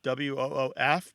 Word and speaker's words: woof: Sometimes it's spelled woof, W-O-O-F, because it's one of these terms that's primarily transmitted orally. And so the L kind of disappears. It sounds like woof instead of wolf.